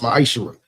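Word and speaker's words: מעשר: Means 10th in Hebrew and is pronounced ma'aser.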